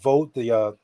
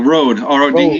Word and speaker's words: Rode: It's like the I want to say Yoda, the Vode, I always get the name wrong. Vode or Mode, whatever that Mode mic. Oh, the Rode, RODE.